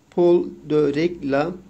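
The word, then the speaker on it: Paul de Régla: nasıl yazılıyor Latincesi yazalım Paul D Latincesi böyle D diye okunuyor regla arkadaşlar Paul de regla nın bu kişi Paul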